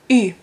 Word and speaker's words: ü: So you know u, and I put two dots above it, and it's ü.